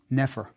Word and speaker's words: Nefer: We fill in the E's so we can pronounce it, and it becomes Nefer.